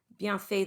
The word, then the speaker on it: bienfait: Bienfait, the T is silent, but optionally you can pronounce it because there's a vowel following.